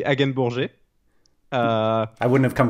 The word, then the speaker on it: Hagenbourger: would be great yeah the french pronunciation is actually again bourgeois uh i wouldn't have